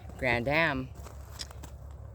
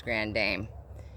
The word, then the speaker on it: Grand Dame: This is my favorite grandiflora rose, which is Grand Dame or Grand Dame, either one. I've heard it pronounced both, but I think it's Grand Dame.